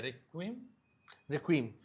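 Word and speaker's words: Requiem: उसका प्रोनाउंसिएशन क्या है? रिक्वीम। रिक्वीम मतलब ये वो वर्ड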